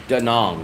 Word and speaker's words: Da Nang: call it da yes I always call it daong daong daong so it's right my my my